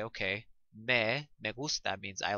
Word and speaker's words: me: And again, it's pronounced me and not like the word in English, me.